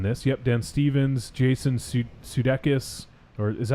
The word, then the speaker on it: Sudeikis: Yep, Dan Stevens, Jason Sudeikis, or is that how you say it? Sudeikis? Sudeikis, yeah.